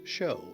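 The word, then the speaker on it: shew: would want to do the word spelled s-h-e-w is pronounced show and it means to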